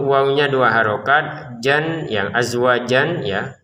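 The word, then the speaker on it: أزواجا: Jan yang azwajan ya tulisannya azwajan tapi kita baca azwaja kenapa? Karena kita berhenti di sini.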